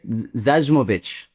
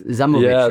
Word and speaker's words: Zajmovic: A lot of people say Zajovich, but it's Zamovich, right?